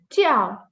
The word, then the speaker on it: 叫: Then we have jiao, okay, the letter J pronounced as ch.